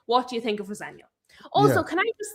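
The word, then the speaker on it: Rosenior: And he says, "Well, my dad says Roseno." And now everybody's calling him Rosena. And I'm like, "It's not even close.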